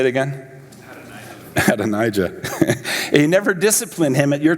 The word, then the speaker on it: Adonijah: son, whose name is Adonijah, and that's not right.